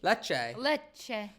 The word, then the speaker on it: Lecce: Lychee? I don't need, Lecce? I would say Lecce. Lecce.